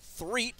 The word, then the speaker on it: Threet: Haley Threet, that's a name I had a little trouble with earlier, but somebody with a similar name at halftime told me to pronounce it Threet, so hopefully that is correct now.